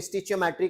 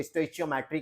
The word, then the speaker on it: stoichiometry: अच्छा, इसको स्टीचियोमेट्री कहते हैं, कुछ लोग इसको स्टोइचियोमेट्री कहते हैं।